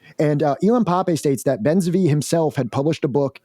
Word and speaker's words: Ben Zvi: I'm sorry if I'm pronouncing this person's name wrong. Ben Zvi. Ben Zvi, yeah.